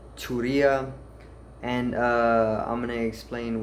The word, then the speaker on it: Turiya: state of mind um and and it's called turia right you can do your research as well